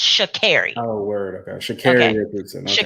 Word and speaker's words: Sha'Carri: And just to let y'all know, Sha'Carri Richardson is from, excuse me, it's Sha'Carri. She did correct people back then. Her name is pronounced Sha'Carri.